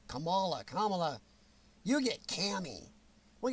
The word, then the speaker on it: Kamala: in in the year oh then you get kamala don't say it wrong kamala kamala you get cammy we got present cami